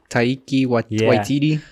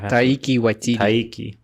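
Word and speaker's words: Taika Waititi: Freaking, however you pronounce his name. Taiki Waititi.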